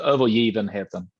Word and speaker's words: Övergivenheten: wrong is it oh over given hatton that's yeah that's pretty good we actually the g is pronounced uh like a g so over you even had them okay over a year